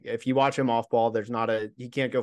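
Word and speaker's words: Baugh: Is that's how you pronounce it? Ba, right? Yep, Damian Ba.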